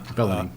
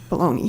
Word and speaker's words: Bellany: Bellany. Baloney. I'm sorry. Bellany. Bellany. Is that how you say it? Bellany. Bellany, yeah. Bellany.